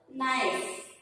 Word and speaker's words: knife: Knife. K-N-I. K-N-I-F-E. Knife. K-N-I-F-E. Knife. Your K is silent.